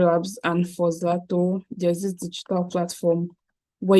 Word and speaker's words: Zlto: So this is Zato, it's spelled ZLTO.